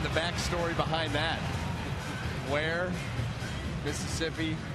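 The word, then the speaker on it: Weir: out of where mississippi spells w-e-i-r pronounced where who played first base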